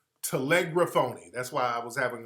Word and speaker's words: telegraphone: this is the pronunciation telegraphy telegraphoni right telegram telegraphone that's how it's pronounced telegraphone that's why i was having a little trouble